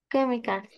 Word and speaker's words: chemicals: Chemicals. La yes, la CH pronunciamos como una K, ¿qué?